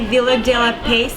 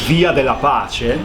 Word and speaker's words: Via della Pace: So we're toasting this to Giovanni Villa della Pace. It's an amazing place, and he's from Rome. Yeah, and the right pronunciation is Via della Pace.